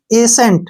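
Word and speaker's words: ascent: टी ठीक है ना एसेंट क्या पढ़ेंगे इसको एेंट ऐसे एेंट क्लियर हमने सी का उच्चारण नहीं करना है जैसे नेक्स्ट है एस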